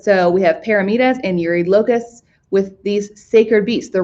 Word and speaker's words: Eurylochus: I've always heard as Eurylochus, so I'm going to just keep calling him Eurylochus. I think it's one of those things that we don't actually have a true pronunciation anymore. But I've heard it both ways by professional people. So up to you. I go with Eurylochus.